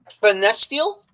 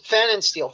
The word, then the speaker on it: Pfannenstiel: and if you can help me if I mispronounce his last name, I would appreciate it. Uh, Lutz Fest steel. Is that correct? Or did I Lootz Fannensteel? Loots Fannensteel.